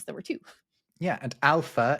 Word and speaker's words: alpha: Yeah, and alpha is spelt with an F in the NATO alphabet rather than a PH because, well, it's obviously a bit complicated to spell it with a PH, but they were particularly worried that Spanish people would pronounce it alpa, which, I don't know, for some reason that is really bad.